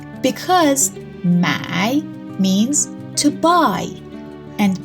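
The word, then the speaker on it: 买: This character, the tone is the third tone, and this one, the tone is the fourth tone.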